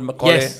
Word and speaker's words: Macaulay: And am I pronouncing the word Macaulay rightly?